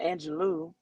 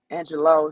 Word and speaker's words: Angelou: As Maya Angelou, or some people may say Maya Angelou, Angelou is what uh, how I pronounce it, the great late Maya